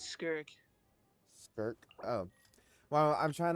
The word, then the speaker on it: Skirk: Let me see how to pronounce this word. My Oh, it's Skirk.